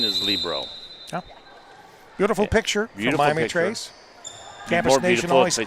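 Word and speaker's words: libero: point serving for Miami traces Sydney Carter the Libro and behind four to five and she serves in the net cutting the green view back ahead six to four by the way I say Libro if you go to the college if you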